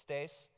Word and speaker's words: Thijs: that being said hi my name is Stacey that is indeed how you pronounce this I'm a Dutch speaking